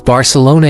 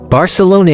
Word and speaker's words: Barcelona: Barcelona pronounced as Barcelona in Catalin and Barcelona in Spanish is a vibran city